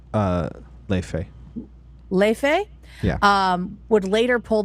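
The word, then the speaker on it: Laufey: And then the Icelandic singer-songwriter Lofi, how do you pronounce her name? Leife.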